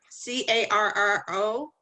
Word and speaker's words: carro: C A R R O. And if so, could you pronounce it again for me?